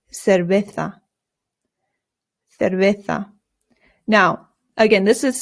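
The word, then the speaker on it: cerveza: Remember the C's in Spanish make a th sound, but the zeds do as well. So this isa and the v's in Spanish make a very light b sound. Not cera. Your lips just touch very lightly when you make the V sound.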